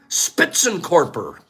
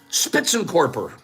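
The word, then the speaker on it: Spitzenkörper: shooting them is called spitsen corper I'm going to spell that for you s p TZ just like you think it's German spits n n and then corper k o r p e r spits and corper these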